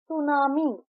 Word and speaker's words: tsunami: सुनामी। हम सुनामी को लिखते हैं टी एस यू एन एम आई लेकिन हम प्रोनाउंस करते हैं सुनामी एस यू एन ए